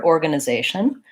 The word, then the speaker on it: organization: a word like organization I'm gonna have this schwa which is the unstressed schwa and it's there because of the unstressed syllables in the word so then the word organization I have a schwa here org uh nah they shun there's three choir's in